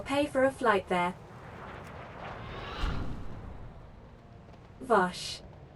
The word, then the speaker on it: Vashj: for a flight there vosh vash lady vash i'm sure it's pronounced bash virus what happened here